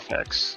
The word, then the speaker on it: Mafex: a new way that I'm exclusively going to pronounce it. So Mafex, right? Mafex.